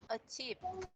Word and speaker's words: achieve: Chúng ta sẽ mình sẽ nhấn vào trọng âm thứ hai và có âm cuối, âm ending sound là âm v, âm v.